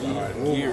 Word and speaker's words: Garren: Yeah, Garren is just like UK. Yeah, it's different. Yeah, it's it's different. calm, I already know. Yeah, it's calm. Garren, like it's like a UK name, like Gary, Garren, Dan.